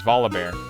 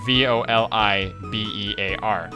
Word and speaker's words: Volibear: For example, a champion in League of Legends, his name is Volibear. It's Volibear, and I say it's Volibear, putting no emphasis on the I, but he puts a lot of emphasis on the I.